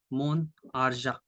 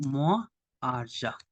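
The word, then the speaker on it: mon argent: the examples Mo AR Moon arja my money we cannot go more arja this is wrong arja means money so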